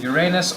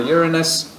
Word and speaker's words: Uranus: planet from the Sun is Uranus or Uranus or rano so if you want to go with the name of the Greek pronunciation of the god and then the last